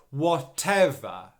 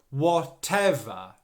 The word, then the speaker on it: whatever: thing is the stress the stress is on the second syllable so whatever whatever whatever okay that second syllable is the stressed one it should be louder